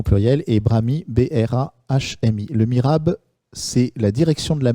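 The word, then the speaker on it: mihrab: Sachant que Mirab s'écrit M-I-H-R-A-B. Et donc un S évidemment au pluriel, et Brami, B-R-A-H-M-I. Le Mirab, c'est la direction de la Mecque dans une mosquée.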